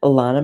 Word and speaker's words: Lana: to say my name I say Lana rhymes with Donna I'm going to remember